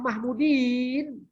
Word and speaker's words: Mahmudin: Mahmudin. Berarti ada ya dan nun, Pak. Tidak boleh Mahmud itu. Ya, supaya jangan salah bacanya. Namanya siapa? Profesor Mahmudin. Ya, ada ya dan nun, Pak. Tidak mungkin Mahmud.